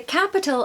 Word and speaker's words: capital: a word Capital the capital of the UK is London again Capital we are stressing that first syllable maybe because it's